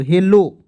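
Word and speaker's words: hello: के रूप में करेंगे, तो एच E double L ओ, एच ई से देखिए, एच से हा होता है, ई से ए की मात्रा है, और डबल एल से उच्चारण करेंगे ल, और ओ से ओ की मात्रा, तो हेलो, ठीक है।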